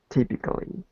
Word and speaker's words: typically: Typically, typically, Close. Instead of having that A, we would just say typically. Typically. typically. Close. Like this. So just try it with 3 syllables.